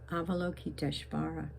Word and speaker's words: Avalokiteshvara: Then Avalokiteshvara, the bodhisattva of great compassion, the one that is the same as Kuan Yin. Avalokiteshvara.